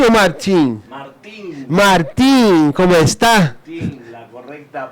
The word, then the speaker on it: Martín: Martín, la correcta pronunciación. La correcta pronunciación es Martín.